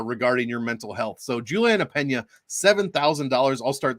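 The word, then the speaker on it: Julianna Peña: evening the rematch between juliana pena going against amanda nunes or or how do they pronounce it on espn julie na pian against amanda nunes like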